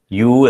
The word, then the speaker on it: ewe: അത് പ്രൊനൗൺസ് ചെയ്യണത് U എന്നാണ്. EWE is pronounced as U.